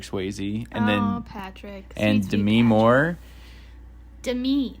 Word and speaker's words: Demi: patrick and demi moore to me not demi demi sorry apparently don't add me everybody who's demi moore i think you said it right but i'm just clarifying apparently she goes by to me and not demi because she's fancy like that